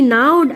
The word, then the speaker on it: gnawed: She gnawed at it, जी यहाँ silent है, जी नहीं पढ़ते हैं।